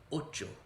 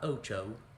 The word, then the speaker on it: ocho: to the e siete ocho make your o's nice and pure and you'll improve the pronunciation on this one massively it's not ocho pure vowels nine remember